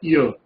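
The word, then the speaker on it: year: शब्द में रहता है, ईयर, उच्चारण में हमें ऐसा लगता है कि इसका उच्चारण ई से हो रहा है, जबकि इसका उच्चारण ई से ना होते हुए य से होता है, जैसे कि यस में,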